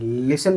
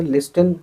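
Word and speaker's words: listen: लिसन में लिस्टन हम नहीं पढ़ते हैं, टी को साइलेंट मान लेते हैं।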